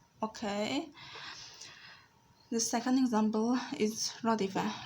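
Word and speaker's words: رَدِفَ: Radifa consists of three letters. The first one is ra. Ra with a fatha over it is pronounced as ra. Dal with a kasra below it is pronounced as d. And fe with a fatha over it is pronounced as fa. So it becomes like that. Ra, di, fa. Ra, di, fa. Radifa.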